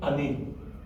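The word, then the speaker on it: אני: with a chilik yod, and that word is pronunciated ani, which means I.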